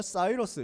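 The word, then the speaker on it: Cyrus: 그 다음에 역사책에 는 키루스 영어 식으로 발음하면 싸이더스 이렇게 되는 사람입니다 요 사람 이름의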